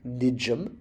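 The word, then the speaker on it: nḏm: Putting that next to another M sound, the owl, the single consonant sound, becomes nijum. Nijum. The D is like a J, remember, when you have the line under it.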